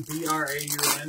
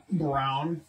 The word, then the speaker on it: Braun: wouldn't I guess where his last name looks like it's Ron b-r-a-u-n but he pronounces it Brown I thought it was Christian Braun what Christian Braun I thought his name was Braun yeah but it's pronounced Brown huh Justin Fields there